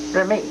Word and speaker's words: Remy: Did his mother call him Ramey? Remy. Oh. Remy. She used to call her Remy. Did anybody? That was the French way of pronouncing his name, Remy.